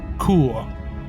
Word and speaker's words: Chur: or if I use the German pronunciation Kua which is one other